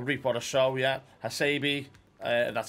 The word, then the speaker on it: Hasebe: or so i'll reap what a show yeah hasebe that's how you pronounce it sharma or soulmark 87 piece uh